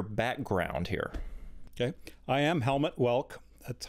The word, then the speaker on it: Helmut Welke: I am Helmut Welke. That's how I pronounce it.